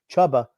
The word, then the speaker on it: Chuba: it is spelled chubba it was like c-h-u-b-a then you could say maybe tuber but that the two b's makes that a soft u sound so it is chubba okay well i'll just